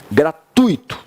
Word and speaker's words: gratuito: ó como é que é a pronúncia é gratuito né gratuito a gente tem um jeitão como é que dividir vai lá gratuito vai gra tuito porque as pessoas falam gratuito né gente e o nome